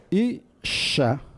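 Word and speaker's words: אִשָּׁה: de la letra nun, el hebreo tiene un mecanismo compensatorio que es duplicar el sonido consonántico de la letra siguiente, que es la shin. ¿Y cómo se escribe eso? Pues así. Isha. Isha. El puntito dentro de la shin, que se llama dagesh forte en gramática hebrea, es quien me dice el origen de la palabra isha, que es enosh.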